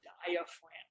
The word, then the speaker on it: diaphragm: It's called your diaphragm. Diaphragm is a very weird word. It's spelled in a strange way, with a G in the middle of it that you don't even hear.